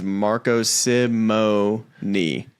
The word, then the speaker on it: Marco Simone: go here's the email the proper pronunciation is Marco Simo knee three syllables this is big this